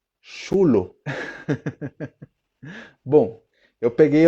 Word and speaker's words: chulo: Em espanhol, para começar, a pronúncia do CH muda e não fica chulo. Okay? Não existe essa pronúncia do CH, esse chá, xe, xi, né? Não existe CH. A pronúncia é chulo, como se tivesse um T antes, né?